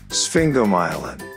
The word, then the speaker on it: sphingomyelin: out challenging isn't it this is how you pronounce it sphinx go myelin sphingomyelin sphingomyelin did you know that sphingo